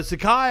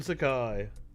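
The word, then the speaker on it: Psaki: uh new white house press secretary jim uh sakai i think is how it's said my apol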